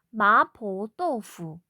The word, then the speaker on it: 麻婆豆腐: 자, 마파두부를 중국어로는 마포도fu. 자, 아까 전에 짜장면처럼 발음이 비슷하기 때문에, 그쵸?